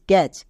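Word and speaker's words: catch: করি তাহলে কি করবো টি এর উচ্চারণ করবো না কেন কারণ এখানে টি এর পরে সি এইচ আছে নেক্সট স্ট্রেচ এবার একে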